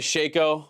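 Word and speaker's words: Shaco: Just to start, I'm glad you say Shako. I think Shako is the right way to say it. Jack, we're talking never been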